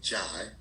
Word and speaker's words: Jai: So it's actually pronounced Jai.